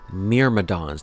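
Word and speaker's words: Myrmidons: Miradons. That's how it's pronounced. That was Myadons.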